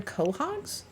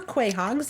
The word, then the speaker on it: quahog: I did these are southern quahogs or Quay Hogs if you like to pronounce them incorrectly like I used to before somebody corrected me so these are southern